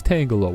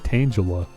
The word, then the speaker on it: Tangela: I know it's Tangala. Why do I always want to give you a soft G? I know it's a hard G.